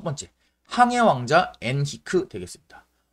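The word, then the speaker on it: Henrique: 옛날 책이나 아니면은 인터넷이나 이런 데서는 보통 우리가 엔리케, 스페인식으로 엔리케라고 하거나 아니면은 이제 영어식으로 헨리라고 읽는 경우가 있어. 그래서 뭐 내비게이터 헨리, 뭐 아니면은 뭐 항해왕 엔리케 이런 식으로 표기되는 경우가 많은데 이 사람 포르투갈 사람이다 보니까 우리가 포르투갈식으로 이름을 읽어주는 게 맞습니다. 그래서 우리는 배운 사람들이니까 우리는 앞으로 꼭 엔히크라고 이 사람의 이름을 명명을 해주자.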